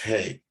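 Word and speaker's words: ה: as in honor or e value five it's pronounced hey it means window literally wind door a window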